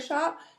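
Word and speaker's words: Shoppe: at the Shakra Shop.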